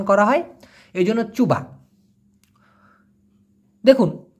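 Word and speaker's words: cuba: চুবা মানে কি চেষ্টা দিয়ে এখানে সি ইউবি উচ্চারণটা হবে চুবা কারণ সিকে মালয়েশিয়ান ভাষায় চ উচ্চারণ করা হয় এজন্য চুবা দেখুন ক অথবা রাবার কি রকম যেমন মনে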